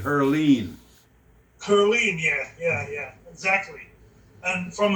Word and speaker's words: Heerlen: Yeah, I think we really started in Heerlen. Heerlen. Here, Or yeah. Yeah, we pronounced it. We pronounced it Herleen.